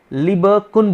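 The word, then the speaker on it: Lieberkühn: ये जो लिखा हुआ है इसे आप ऐसे प्रोनाउंसिएट करेंगे, एक साइंटिस्ट का नेम है, मैं बताऊंगा अभी इसके बारे में आपको। इसे क्या बोलेंगे? क्या बोलेंगे इसे आप? लिबरकुन बोलेंगे इसे, आप भूलना नहीं इसको आपको यहाँ पे।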